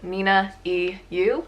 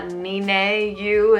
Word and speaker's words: ninaeyu: Well, I just pronounced it. My username for Instagram and Twitter is ninaeyu. It's not ninaeyu, it's not ninaeyu or whatever.